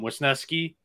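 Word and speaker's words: Wesneski: in the past um wisnesky is the way to pronounce it I looked that up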